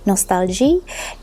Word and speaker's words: Nostalgie: But nostalgia, which I think it's meant to be pronounced like in French, nostalgia is looking like the pictures.